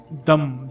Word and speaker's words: दं: बीजमंत्र का उपांशु जप करें यानि इसका जो उच्चारण का यह होगा दम दम दम दम दम यह द के बाद